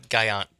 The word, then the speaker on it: Gallant: Gallant. Gallant Show. Yeah, the double L is pronounced like a Y.